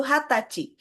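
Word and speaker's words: 二十歳: Bisa kalian lihat bahwa umur 20 tahun diucapkan dengan cara yang berbeda. Karena selain diucapkan ni jusai bisa juga diucapkan dengan kata khusus yaitu hatachi.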